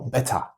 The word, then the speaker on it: better: However, the T is very well pronounced here. So better, I'm doing better. That's something that someone from the UK would say, maybe.